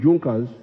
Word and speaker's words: Junkers: However, there was a strong business group in Prussia known as Junkers. It is written Junkers, but they pronounce it Junkers, that saw the importance of a united German market.